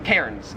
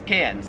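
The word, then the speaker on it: Cairns: So y'all have Melbourne and y'all have cans. Australians love to give Americans a hard time for mispronouncing these cities. We call Melbourne Melbourne and we call cans Kairens cuz there's like an R there.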